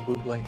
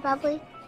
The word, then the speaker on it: Bublé: I believe Michael Bublé. It's pronounced Bublé. I know, thanks. Dave. It's Dave. Can I have your autograph, Mr. Bubbly?